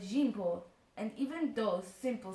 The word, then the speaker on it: Jean-Paul: Beanpole's name, I learned, was not Zampole, but Jean-Paul, and even those simple syllables took some mastering.